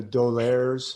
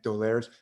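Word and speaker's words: d'Aulaire: say their name the doleres you know angry and edgar perein doler d with an apostrophe like a french name a-u-l-e-i-r-e i think dolers they have these wonderful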